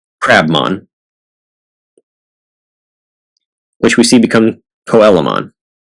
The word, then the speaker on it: Coelamon: Derek has number 175, Crabmon, which we see become Coelamon. Yes, that is the official pronunciation. It should be Coelamon because it's a coelacanth, but that's what was said, so that's what it is.